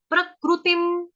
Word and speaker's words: प्रकृतिं: अनुस्वार जो ऊपर बिंदी है उसका उच्चारण होगा हलंत म। प्रकृतिम, प्रकृतिम, प्रकृतिम, प्रकृतिम, क्रू